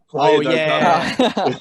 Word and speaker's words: Playa del Carmen: Playa del Carmen. Oh, that's how you say it. Playa del Carmen. Yeah. I'm like Playa del Carmen.